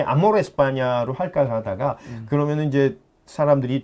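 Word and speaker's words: España: 스페인이라는 단어는 영어식 발음이죠. 그러니까 그러니까 영어식 미국- 발음이고요. 그래서, 예, 예. 그리고 본토 사람들이 얘기하는 본국 사람은 에스파냐.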